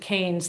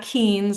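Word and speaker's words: Keynes: Um and I recently learned on a podcast that I had been pronouncing his name wrong. So when you think of John Maynard Kanes, think candy canes, right? So not it's not Kees. I always thought it was Kees.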